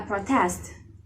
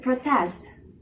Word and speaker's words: protest: another example is sport protest in noun it will pronounced a protest but in the word it really pronounced to protest for example in work